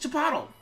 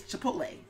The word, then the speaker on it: Chipotle: I'm gonna pronounce it Chipotle. And he's like, it's Chipotle.